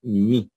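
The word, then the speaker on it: μῦ: número doce del alfabeto la mi algunos la pronuncian van a escuchar que la pronuncian como como algo intermedio entre I y u de hecho a veces me la van a escuchar pronunciar así pero para temas sencillos Pueden decir mi entonces aquí tienen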